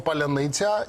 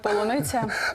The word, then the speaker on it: Поляниця: назвавши український реактивний Дрон Поляниця і росіяни не можуть вимовити кажуть Полониця заявивши про те що